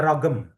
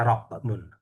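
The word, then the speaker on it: رقم: Rokem, kalau banyak orang Arab rokem ini mereka bacanya rogem, rogem. Kok itu dibaca go. Nah, itu ada. Itu biasanya agak-agak selatan, Yaman, itu ragam. Itu bacanya gak ragam, ragam. Tapi ya sama. Nah, kita di sini fushanya rokmun, rokem.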